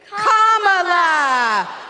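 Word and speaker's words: Kamala: do you pronounce it first you say comma like a comma in a sentence then you say la like la la la la la put it together and it's 1 2 3 comma all right so let's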